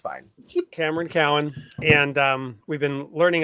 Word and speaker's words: Cowan: a few seconds we're here with um Cameron Cohen am I saying your name correctly sure it's Cowin but it doesn't matter everyone mispronounces it it's fine Cameron Cowan and um we've been learning a lot about